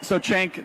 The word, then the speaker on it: Cenk: It is Jenk, I believe. I asked him like 20 times and I realized. How do you actually pronounce it? Everybody's like Jenk. It's Jenk.